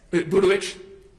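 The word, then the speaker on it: Budowich: And this is text with you and Taylor Burdowich. And I'm pronouncing that name right? Can you pronounce it so I get it right? Yes, that's correct. Burdowich?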